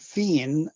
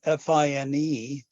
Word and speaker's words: Fine: Oronce, the first name, and Fine, F-I-N-E, a French name, sometimes written F-I-N-E with an accent mark over the E, which would be Fine.